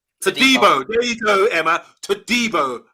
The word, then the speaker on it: Todibo: I want you to help me out on this one, Dan, because Emma's ripping me for mispronouncing the name of John Clair-Todibo. Todibo, I think he's called. Todibo.